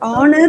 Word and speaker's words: honor: just a minute for Honor you for Honor you have to pronounce it honor there are basically three words where H is considered to be silent first one is our